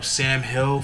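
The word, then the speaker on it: $am Hill: Next artist I want to talk about is Sam Hill from the Bronx. But it's spelled the $, then A-M Hill, Hill, Sam Hill.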